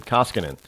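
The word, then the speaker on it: Koskinen: How do you pronounce his name? Koskinan. K O S K I N.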